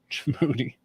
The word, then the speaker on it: Djibouti: Oh, that's what their pronunciation is. Djibouti.